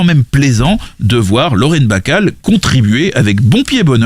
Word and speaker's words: Bacall: années plus tard car avec un seul l plusieurs prononciation était possible ce qu'il est né n'est plus possible dans la langue anglaise lorsqu'il ya deux ailes la jeune betty rêve